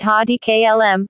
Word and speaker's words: Heidi Klum: Heidi Klum, pronounced Heidi Klum, born June 1, 1973, is a German-American supermodel, television personality, businesswoman, fashion designer, singer, television producer, author, and actress.